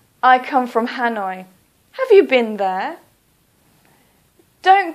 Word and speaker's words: Hanoi: use the English pronunciation so for example Hanoi please don't say h please say Hanoi or for example Kolkata